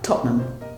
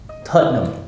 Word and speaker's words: Tottenham: Well, Tottenham. Tottenham. 2 syllables again. Tottenham. So you just shrank it down. So instead Absolutely. of Tottenham, Yes. which is 3, Yes. you just Tottenham. Tottenham. Yeah. Tottenham.